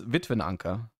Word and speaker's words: Witwenanker: How do you pronounce Widow Anchor in German? It's Witwenanker.